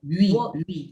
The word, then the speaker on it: Huy: But you found out that he was buried somewhere within, how do you pronounce the state? W-U-Y? Louis, the city of Louis in what is Belgium nowadays.